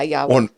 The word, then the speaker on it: Yahweh: know the original spelling I guess right or pronunciation of Jesus is uh ya a I'm saying I know I'm doing God yeah Yahweh yeah Yahweh but we put A's right we